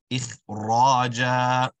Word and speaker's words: إخراجا: You want to ensure the jim is stretched for the same way. إخراجا.